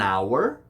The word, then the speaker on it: hour: The letter H is sometimes pronounced and sometimes it isn't. This may change the article. An hour, a horse.